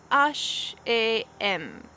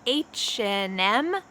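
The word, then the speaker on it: H&M: and you ask them where is ash a m they're gonna say what so i would like to help you pronounce these name brands the same way that is pretty standard in the u.s if you asked them where is hm they'll say oh yeah it's right over there or if you ask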